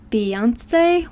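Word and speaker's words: Beyincé: realized that her family name her maiden name beonce well be it's spelled b e y i n c e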